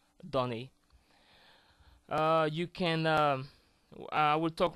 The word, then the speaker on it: donner: So there are some situations like that in French where O will sound like A. So you will either find this small hat on top called accent circonflexe, or you will find words in which the O is followed by a double consonant, like the example I just gave you, donner.